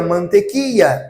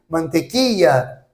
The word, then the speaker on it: mantequilla: Então, som do LL, dois L's. Ya. A palavra manteiga, mantequilla. Aqui, mantequilla. Tá? E aqui, mantequilla. Tá? Outra palavra é a palavra rua em espanhol. É calle. Castelhano, calle.